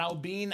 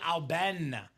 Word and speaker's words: Alben: Not Albine, Al Ben.